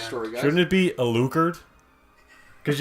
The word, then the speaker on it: Alucard: Shouldn't it be Alucard? Because you put the emphasis at the first syllable, not on the The on the last.